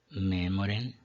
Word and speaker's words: memorem: Nós temos horum, memorem, periculo, ambulaueris, laudata, senatus. Por quê? Horum, palavra de 2 sílabas, acento na primeira. Memorem, a penúltima é breve, acento na antepenúltima.